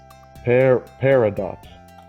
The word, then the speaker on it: peridot: Peridot.